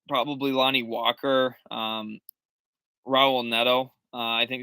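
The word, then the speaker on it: Raul Neto: probably lonnie walker um raul nedo i think it's pretty solid as well uh or a hubble nettle is how his name is actually pronounced in his home country um trent forest from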